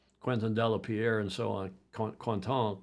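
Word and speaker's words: Quentin: delapierre and so on quanton quanton I think it's pronounced in French but good sailor but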